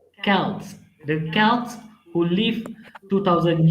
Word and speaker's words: Celts: Halloween origins date back to the ancient Celtic festival of Samhain, pronounced Samhain. The Celts, Celts. Celts, the Celts who lived 2000 years ago, mostly